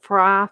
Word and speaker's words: Frye: e-r-v-i-n the abernathy family the long family the frye family the f-r-y the barkley family the will fong family and i'll spell that one as w-i-l-f-o-n-g and the huffman family